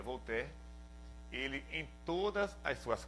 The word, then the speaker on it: Voltaire: muito conhecido na verdade se escreve Voltaire lá em português mas se pronuncia vou ter ele em todas as